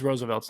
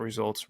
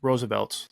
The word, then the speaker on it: Roosevelt's: It's Roosevelt's, not Results. Roosevelt's. That's what it is.